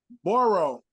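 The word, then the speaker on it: borough: was already automatically not is it borrow as in Big yeah like dig yeah um not like Joe burrow right not that one uh uh b-r-o-u-g-h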